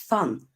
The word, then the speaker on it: van: n Roy um as van is pronounced fun both in Dutch and that's kind of